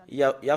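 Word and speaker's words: יה: Les Juifs l'ont prononcé en Ya. Et ce que nous voyons sur l'écran, c'est Ya. Comment on le prononce? C'est I-A-H. C'est là, c'est comme ça qu'on le prononce.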